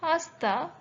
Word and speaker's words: hasta: afternoon next word manyana notice how it is written as hasta but H is almost silent niana which means see